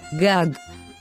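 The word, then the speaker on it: גג: That's why we pronounce this word as gag.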